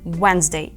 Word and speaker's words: Wednesday: ш наступна літера D І тут також вона може виступати як Silent D тобто не звучати у слові wesday Наприклад ми маємо сполучення д і н і все одно це звучить як and wednesday у слові Date вона